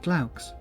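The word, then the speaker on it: glaux: written in greek you should pronounce it claux from what i recall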